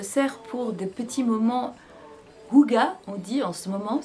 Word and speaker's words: hygge: dont je me sers pour des petits moments huga ont dit en ce moment c'est la grande mode. Donc huga c'est quoi ?